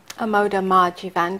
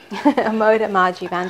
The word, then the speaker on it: Amoda Maa Jeevan: and yes you can go to my website a modem Margie van calm okay can you spell that yes a.m.